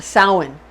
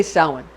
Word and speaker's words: Samhain: It looks like it's spelled Samhain, but it's actually pronounced Samhain. Samhain. It's spelled like Samhain, but we say Samhain.